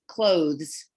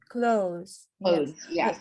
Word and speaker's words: clothes: that i also wanted to mention it's the pronunciation is clothes clothes not then the other with the available is